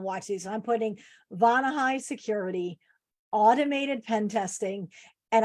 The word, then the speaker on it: Vonahi: and it's funny because they always butcher the name. They're like the Vonahi. And I'm like, it's Vonahi, but I know who you're talking about.